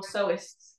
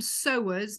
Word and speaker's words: sewist: worked at sewing quarter we were told never call them sewers because it's spelled sewer which has a whole different thing so we kind of say sewists here yeah so whether it's